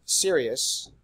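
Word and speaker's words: Sirius: a main sequence star if we looked at Sirus and that's how you pronounce that shirely can't be serious I'm serious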